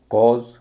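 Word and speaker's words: cause: उच्चारण बात करते हैं जो उसका नॉर्मल उच्चारण है और कुछ शब्द देखते हैं जैसे author A यू टी एच ओ R author कॉज सी ए यू एस कॉज एफ आर ए यू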